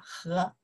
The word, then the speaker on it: 和: We pronounce the second tone. You say, 和王鹏和 Leo, 我和我妈妈, 哒哒哒, 和, 和 is and, right?